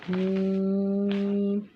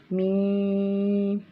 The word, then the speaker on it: میم: کے بعد حرف ہے میم۔ میم یہ دونوں ہونٹوں کے خشک حصے سے ادا ہوتا ہے۔ میم دونوں ہونٹوں کے